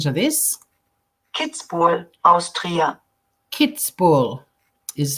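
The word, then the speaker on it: Kitzbühel: have a listen to this kids for Austria kids ball is how you pronounce that spoken by an Austrian so I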